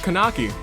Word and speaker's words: Kanaki: kanaki ito and with kanaki yes kanaki indeed kanaki not other not some other name that sounds you know similar also through syllables it starts with a con sound hey we also have